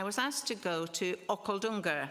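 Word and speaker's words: Okhaldhunga: asked to go to okaldunga that's how you say it okay sounds almost Scottish or Welsh doesn't it it's in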